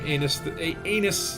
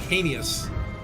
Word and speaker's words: heinous: must sometimes do some anus things. I keep saying anus when I try to say it, like heinous. Is that how you say it? Heinous?